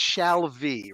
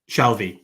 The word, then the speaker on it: Shalvey: Shalvey, am I pronouncing your name like I'm looking at your name? The spelling it's Shalvey, right? Yeah, nailed it. All Got it right, in one. cool. Say it again. Shalvey, yeah.